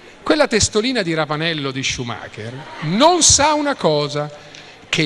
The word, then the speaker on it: Schumacher: No, si dice Schumacher, raga, no, non è Schumacher. Schumacher si pronuncia.